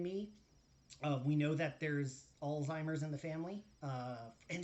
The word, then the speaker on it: Alzheimer's: we know that there's alzheimer's in the family uh and just like a fun fact it's not all timers that that is a it's a funny mispronunciation it's alzheimer's it's it's german uh pronunciation alzheimer's um uh i